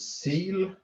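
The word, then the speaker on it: SEEL: is a new installation it's called seal uh don't ask me the the uh what s-e-e-l stands for but it's uh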